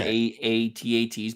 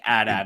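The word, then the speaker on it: AT-AT: heard them call both i call them a-a-t-a-t's because there's atsts like there's a bunch of different ones but i don't think adad is wrong right it's just like it's two syllables versus four and i'm all about you know economy of syllables but look at this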